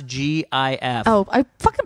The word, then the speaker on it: GIF: How do you pronounce GIF?